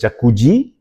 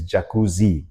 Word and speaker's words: jacuzzi: Ah some people pronounce it as jacucci. It's actually not jacucci, not with a G, but with a Z. So, it's jacuzzi.